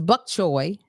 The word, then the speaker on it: bok choy: BOK, and then Like wok. Choi, CHOY. Bok choy. No, CHOI, I believe. What was I saying? Bok choy.